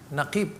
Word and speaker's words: Naqib: Prophet ﷺ allegiance, and he made him a Naqib. Naqib, I'm going to spell it for you.